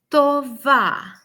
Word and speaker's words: טובה: And we will say היא אישה טובה. It rhymes. At the end of the word, we hear ah, which is the pattern for feminine in Hebrew.